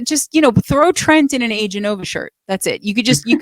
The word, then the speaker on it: Aeganova: are going to want to ask about the pronunciation. Okay, guys, it's Aeganova.